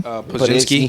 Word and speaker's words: Podziemski: Podziemski.